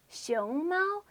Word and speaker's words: 熊猫: It's pronounced 熊猫 with a second or rising tone and a first or high tone.